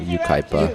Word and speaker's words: Yucaipa: Patriquin, 16 years old, from Yucaipa, California. Is that how you say it? Yucaipa.